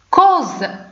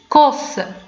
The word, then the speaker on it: cause: الوغ هنا نطقناها على شكل حرف زد ما قلناش كوس، لان اس جات ما بين جوج ديال الحرفين صوتيين اللي هما اي و او U و E دونك نطقنا بها cause اللي هو السبب.